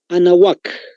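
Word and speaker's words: Anáhuac: anótense, la meseta de Anahuac, tal como se escucha. Hay una H intermedia incluso. Es como el nombre de una dama, Ana, viene la H intermedia juntito y termina U-A-C, C de casa. Anahuac, así se pronuncia entonces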